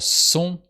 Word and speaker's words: sont: am that's this one and for soon with the silent T is a classic in French you see it in